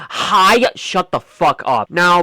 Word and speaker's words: Hiya: Actually, it's pronounced Hiya.